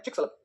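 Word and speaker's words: Chicxulub: हम लोग बोलते हैं चिकसलब।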